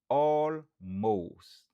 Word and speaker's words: almost: Prononciation c'est almost. Almost. Stress syllable lan li sou premier syllabe lan.